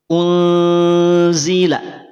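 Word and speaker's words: أُنْزِلَ: bunyinya menjadi nah jelas jadi yang semula bunyinya apa unzila ketika kita bisa memasti adanya Ikfa di laf unzila maka berubah yang semula n menjadi Unila unzila itu yang pertama maka tahan dua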